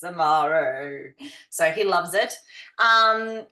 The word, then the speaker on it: Amare: So what we are here for today is Amare, and that's how you say it.